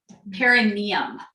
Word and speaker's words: perineum: Perineum. And if I say perineum, that's wrong. It's perineum, but it's an old habit. I got corrected at the last workshop. Say it right.